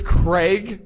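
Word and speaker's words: Graig: Yeah, so it's Craig, like with a C, but spelled with a G. So not like Greg, like G-R-E-G, but G-R-A-I-G. And Greg.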